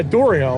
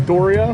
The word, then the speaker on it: Dario: Yeah, Dorio, right? Dorio. Now they found Listen. out that his name's Dorio.